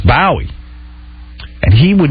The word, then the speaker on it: Bowie: He goes, David Bowie is the proper pronunciation. In London, that's what they say, Bowie. And I go, dude, you're working in America. I don't know one person that says Bowie.